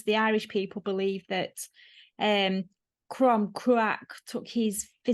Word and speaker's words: Crom Cruach: So it can also be seen as meaning fertility, as in Crom, excuse my pronunciation, Crom Crack. Cruach. Crom Cruach, the fertility god.